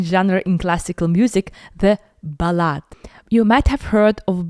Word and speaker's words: ballade: like her ol a small note on pronunciation of this word we have a balad and ballad in musical context when speaking about Chapan balads we usually would use balad and when speaking about the English poems we say ballad um